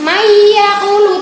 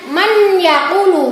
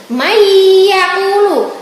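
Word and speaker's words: مَن يَقُولُ: Mayyaqulu tidak boleh dibaca dengan man yaqulu. Bacanya harus mendengung atau berengeng. Mayyaqulu.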